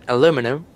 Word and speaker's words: aluminum: The metal aluminum is spelled and pronounced aluminum is the US.